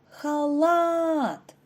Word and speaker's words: халат: А тепер перевірте себе правильно це слово халат наголос падає на другий склад перенесіть цю схему у